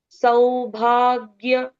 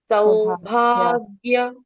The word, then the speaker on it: सौभाग्य: के उच्चारण पूर्ण सकल सौभाग्य स के साथ औ की मात्रा है तो शार्प साउंड आना है। सौभाग्य दायकम तो पहला